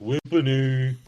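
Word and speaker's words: Whippany: It's only It's officially pronounced Whippony with the I thing and all that.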